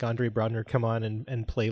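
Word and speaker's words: Andre Braugher: Even the actor Andre Brogner, I believe is how you pronounce his name.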